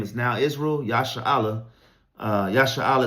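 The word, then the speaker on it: ישראל: Yasha'Allah is how you say Israel in the Hebrew, in the Paleo-Hebrew, Yasha'Allah, which is he, prince in power.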